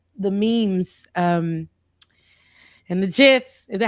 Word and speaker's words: GIF: are saying and now gifts whatever people say Jeff yes okay but they're wrong it's it's a g the Creator is wrong so yeah okay yeah